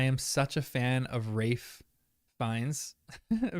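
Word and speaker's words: Ralph Fiennes: such a fan of rafe Vines pronunciation is correct I am such a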